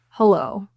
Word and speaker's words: hello: So the stress in hello is in the second syllable.